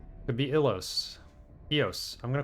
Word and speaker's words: Ilos: Go to Eos. Or is it Yos? It's two L's. If you pronounce it in Spanish, it would be Yos. Could be Ilos.